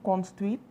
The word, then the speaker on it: construite: So, cette maison a été construite with an E, construite. That's why we are pronouncing the last T, right? Because there's an E at the end.